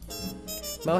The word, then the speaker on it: Meaux: out of 60 plus plays and nine categories Moe won best singer Moe has a new director and is anticipating a